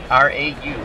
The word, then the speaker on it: Rau: I believe that's how you pronounce his name. R-A-U, Rau.